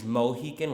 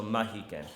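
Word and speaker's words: Mahican: with an a so mahikin but the real pronunciation is somewhere in between the two so and no relation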